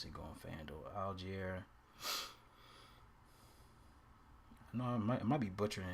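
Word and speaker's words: Allgeier: Okay, how you pronounce his damn name? Algier. Okay. I wasn't that bad. Algier.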